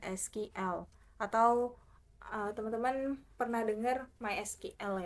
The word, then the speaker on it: MySQL: atau teman-teman pernah denger my SQL ya atau my sequel ada yang bilang my sekuel ada yang bilang MySQL tapi dulu waktu saya di S1 saya Bilangnya sih my SQL gitu Jadi mungkin saya pengucapannya untuk ini SQL aja kali ya Jadi kalau misalnya teman-teman